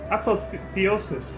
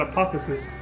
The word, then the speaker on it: apotheosis: Roiling with torment, the dead sun is forsooth oblivion's apotheosis. Excuse me, I almost said apotheosis. Although that could be it. The O could be silent. I don't know how to pronounce it.